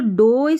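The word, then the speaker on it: dough: और ये जो डो स्पेलिंग है ना यहां पर जी एच साइलेंट है।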